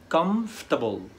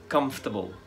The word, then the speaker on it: comfortable: وهنا المشكلة ان في حرفين كاملين مش هيتنطقوا، كلمة comfortable يعني مريح، comfortable، الـ OR مش هيتنطقوا، comfortable، مريح، comfortable.